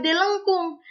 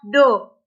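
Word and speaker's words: ∂: Nah, tapi yang bikin uniknya adalah PD biasa ini pakai huruf D, sedangkan PD parsial ini pakai huruf Latin, tapi bukan dibaca D lengkung, dibacanya adalah Do.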